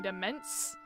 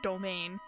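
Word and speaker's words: demesne: That is not how I expected that word to be pronounced. I was expecting demence. Demesine? Not domain.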